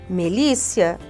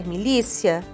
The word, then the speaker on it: milícia: na verdade é rinit melícia é milícia ciclano tá errado nós